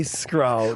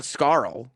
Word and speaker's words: Scurll: Like, it's not Scurll. No, it's Scurll. It rhymes with like a bicep curl or a girl. Curl with an S in front of it.